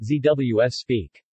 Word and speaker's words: Zeeuws spek: zu speck pronounced zws speak Zealand ich bacon is a traditional Dutch bacon